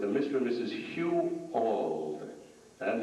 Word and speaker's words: Auld: Hugh Auld. That name is spelled A-U-L-D, and that name is very important, and that family is very important because it was Mrs.